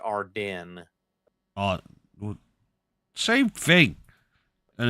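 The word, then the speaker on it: Ardennes: Believe it's pronounced Arden.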